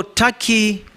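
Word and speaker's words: Türkiye: It is not called Turkey, it's Turkey. It's only written Turkey, but it's pronounced Turkey.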